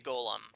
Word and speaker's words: golem: it in the pathway gollum like lord of the rings or golem like monster statue come to life um it's spelled both ways isn't it nicola it's supposed to be like uh but it's supposed to be golem yeah it's but it's